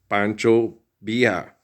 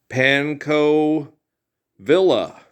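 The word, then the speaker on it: Pancho Villa: But they say pancho via, not panco villa.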